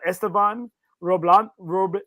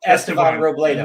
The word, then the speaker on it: Esteban Robledo: commented on here uh esteban roblon robolondo roblado i just played with him this weekend i can't say his name estevan right esteban robledo we had a blast he's